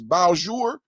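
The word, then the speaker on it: Bossier: And somebody said the other day, the way you pronounce this is Bowjour. Help me out, Chad. Am I saying that correctly? Bowjour. Yesterday, I was saying Bowser City. And then somebody helped me out with the pronunciation. They said it's Bowjour because, you know, it's French down there in Creole.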